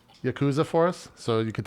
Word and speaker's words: Yakuza: criminal syndicate to which you're referring is the Yakuza Oh the Yakuza majima I'm playing majima mad